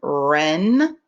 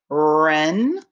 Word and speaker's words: wren: And WR as in wren, wren.